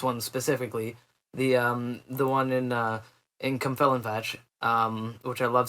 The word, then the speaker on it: Cwmfelinfach: And I mean, this dude got, like, this one specifically, the one in Cumfelinfach, which I love saying the name of that. That's spelled CWMFELINFACH. And it's Cumfelinfach.